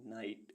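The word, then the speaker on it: knight: गैस gas means अनुमान ऐसे words जिनमें अल्फाबेट जी एच साइलेंट रहता है ई आई जी एस टी एट एट मीस आठ बी आर आई जी एच टी ब्राइट ब्राइट मीस चमकीला एच आई जी एच हाई हाई मीस ऊंचा के एन आई जी एस टी नाइट नाइट मीस योद्धा आर आई जी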